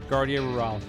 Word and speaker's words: Guardia Rural: It's pronounced guardia rural.